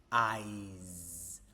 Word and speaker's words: eyes: Eyes with a Z. We don't say these are your eyes. Okay? Or I would like some eyes in my gentonic for example. No, but I would like some ice. Okay. Ice eyes.